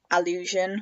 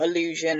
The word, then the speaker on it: allusion: argue that it's like an allusion, which is not illusion as in something that's like an illusion that you can't sort of really see. Allusion, which is spelt with an A.